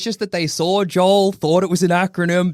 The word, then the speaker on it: J.O.(A).E.L.: a e l yeah the a is silent and much smaller but it is on the sign yeah it's on the